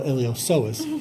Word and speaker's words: iliopsoas: This is the iliopsoas. Or iliosoas. The P is silent, like in Psalms.